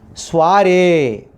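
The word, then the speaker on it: soirée: What the pronunciation of the French origin? Soiree.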